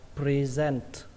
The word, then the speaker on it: present: Từ tiếp theo các bạn đọc là present, ở đây trọng âm của nó rơi vào âm thứ hai các bạn nhé, present, và kết thúc bằng âm t bắn hơi, present, present.